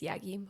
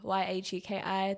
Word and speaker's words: Yagki: And then on Spotify, Apple Music, it's Yagki, Yagki. The K is silent.